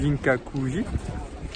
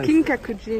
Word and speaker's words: Kinkakuji: temple d'or, donc le Ginkaku-ji, et c'est le pavillon d'or. C'est Kinkakuji, non? Kinkakuji, oui, enfin, ça s'écrit qu'un G.